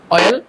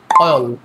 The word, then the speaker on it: oil: দ্বিতীয় যে ওয়ার্ডটি রয়েছে, এটার প্রনাউন্সিয়েশন সাধারণত আমরা করে থাকি হচ্ছে অয়েল, কিন্তু সঠিক প্রনাউন্সিয়েশনের ক্ষেত্রে এ সাউন্ডটি বাদ দিয়ে মুখ স্বাভাবিক ফাঁকা রেখে শেষের দিকে জিভ বা উপতালুর সাথে লাগিয়ে উচ্চারণ করতে হবে অয়েল অয়েল অয়েল।